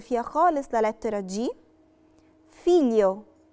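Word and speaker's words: figlio: فيليو، فيليو يعني ابن، ما نطقناش برضو فيها خالص لا لترة جي، لأن الجي ال جم ما بين اتنين فوكالي، في فوكالي قبليها وبعديهم.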